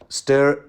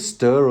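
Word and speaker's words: Styr: to order is it stir or steer by the way I think a lot of people pronounce it steer St yr the Magner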